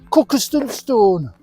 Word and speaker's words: Cuckoo Stone: When we get there, we'll be able to see a stone, the cuckoo stone, as the locals say, cook stone.